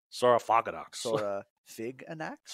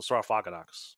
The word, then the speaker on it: Saurophaganax: way you're pronouncing it Sarah fig an ax or a freaking ax what's like it's the same terminology that sarcophagus comes from so sarafakenox so sarcophagus it's a weird name